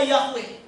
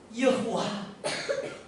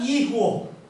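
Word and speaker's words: יהוה: Kalau kita mau fair, bacanya tidak mungkin bacanya Yahweh. Saya punya bukti. Jadi sebutnya itu bacanya Yehuwa. Ada juga Yihwo. Ada juga Yihwo. Bahkan ada juga Yohwo.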